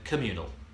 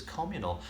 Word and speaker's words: communal: I've always said communal. It's communal. Communal, according to my dictionary, has become an acceptable secondary pronunciation, but actually the first and traditional is communal, and I didn't know that.